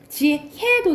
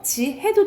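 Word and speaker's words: 지혜: 그리고 얘랑 얘는 애로도 발음한다 라는 거. 이건 허용해준다 이 소리예요. 그러니까는 시개도 되고 시개도 된다 라는 거지. 지해도 되고 지해도 된다 이 말이야.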